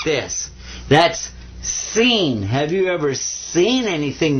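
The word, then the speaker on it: سين: Now this one is seen. Sa, like a regular S.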